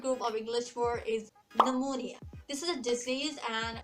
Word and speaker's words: pneumonia: so why did my teacher is saying like pneumonia but after that after a few years when